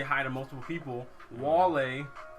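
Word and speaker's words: vale: Wale is how you say bye to people. Is that how you actually say it? Like wale?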